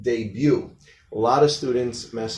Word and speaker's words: debut: Now, it ends in T, so it's not one of the ones that's pronounced. Debut. A lot of students mess up and say debut.